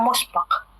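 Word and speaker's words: مُسْبَق: Apakah kita membacanya masbiq, musbiq, musbaq, ataukah masbaq? Akhir Azal mau mengomentari mengapa dibacanya musbaq.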